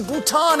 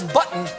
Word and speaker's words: Bhutan: get a dose of reality trump referred to bhutan as button and mispronounced nepal as nipple look at this country